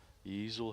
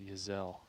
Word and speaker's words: Giselle: All right, so we've got Claire Easel here for birdie on number 9. Sorry, Neil, but it's Giselle. Sorry, it is Giselle.